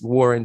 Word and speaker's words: Wuhryn: But it is pronounced like the original spelling of my name, which is Wuhryn, and, my middle name, and the S is silent.